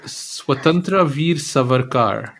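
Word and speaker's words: Swatantrya Veer Savarkar: then there's one that I how do I pronounce so swatantra Veer savarkar oh my God I am absolutely shocked at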